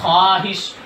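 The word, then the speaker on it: خواہش: इसी तरह ख्वाहिश, जी खा अलिफ नहीं, खा वाव, ख्वाहिश, ये देखिए ख्वाहिश, ख्वाब,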